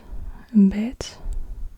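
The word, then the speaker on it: בֵּית: Then we have the bet. Bet is pronounced like a B sound.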